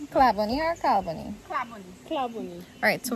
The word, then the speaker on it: Claboney: But you don't pronounce, but NY in French is not like pronounced like that way. NY in French is not like that, so. NEY? Oh, Oh, so y'all thought it was NY? No, yes. it's NEY.